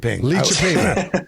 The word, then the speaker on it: Lidköping: How do you pronounce it again? Lidköping.